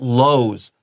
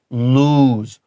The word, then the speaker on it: lose: okay look at the word lose this also uses that long double o like wounded you should also write the word moon here this is not lows this is lose moon wounded Shi shai嗯